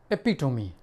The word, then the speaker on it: epitome: जैसे एक वर्ड है एपिटोमी। एपिटोमी मीन्स प्रतीक। इसकी स्पेलिंग क्या है?